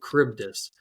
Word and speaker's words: Charybdis: at it, you're like, wait, how do I pronounce this? So Charybdis.